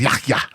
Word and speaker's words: Yahya: It's like, remember when he came out and told us the way to pronounce his name is Yahya?